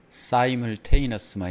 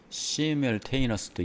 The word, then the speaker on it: simultaneous: in new although dream.이 이 단어가 발음이 사물테이너스만 있는게 아니라 시뮬테이너스도 있습니다. 예. 그러니까 아스 또는 둘 다 가능합니다.